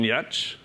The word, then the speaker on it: Giertz: I am very excited to introduce you to Simone Giertz. Her name's spelled differently, but that's how you pronounce it.